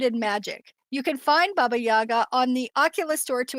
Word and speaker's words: Baba Yaga: Baba Yoga, sorry, I said that wrong. Baba Yaga, is that Mhm, how you say it?